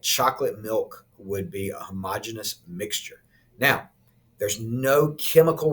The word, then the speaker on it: homogeneous: other group is called homogeneous or homogeneous that's the correct pronunciation but homogeneous kind of helps you remember all right the prefix